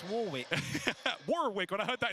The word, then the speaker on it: Warwick: No, it's Warwick.